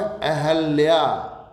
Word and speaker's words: अहल्या: शुद्ध रूप है अहल्या। छोटी की मात्रा हम जबरदस्ती लगा देते हैं और अहिल्या बना देते हैं, उससे बचना है।